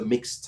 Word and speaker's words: Myxed: And I didn't know what to do and that's why the album is called the mixed type. It's spelled m y x e d because my